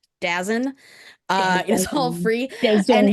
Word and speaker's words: DAZN: DAZN. And you say it like DAZN.